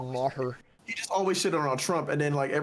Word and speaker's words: Maher: right now he do he just thought it was mayor but it's like bill maher you just always [